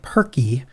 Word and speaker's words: Purkey: you hit the hashtag perky that's turkey but with a p um shia who's uh